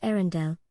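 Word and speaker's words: Earendel: They named it Arendelle, pronounced Arendelle, and called it the most distant single star ever observed.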